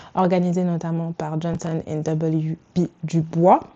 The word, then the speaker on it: Du Bois: Par exemple, la salon protest de 1917 organisée notamment par Johnson WB du bois ou du boys si tu le prononces à l'américaine ainsi que le Hamilton Lord Drag.